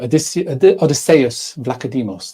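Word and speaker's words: Odysseas Vlachodimos: now we're saying this you know I'm uh Odysseus vlacademos that's how you say his name he's going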